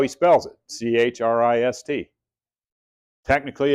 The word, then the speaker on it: Christ: His name, he goes by Chris, but that's how he spells it, C-H-R-I-S-T. Technically, it's Christ. That's how he pronounces it.